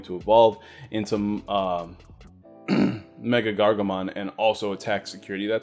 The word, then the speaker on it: MegaGargomon: how you say it they say we're good mega gargamon yeah i said makkah because the memory gain